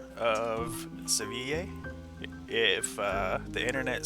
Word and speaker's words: Seville: So he'll suggest buying rock salt here and selling it in Seville, which is the correct pronunciation of Seville.